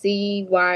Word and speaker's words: cytosol: No, it's CYTOSOL.